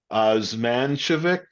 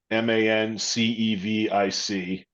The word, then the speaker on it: Osmancevic: Yeah, Craig Spinelli, who's the general manager, and his assistant general manager Sam Zmancevic. I'm not sure I'm pronouncing it correctly. Osmancevic.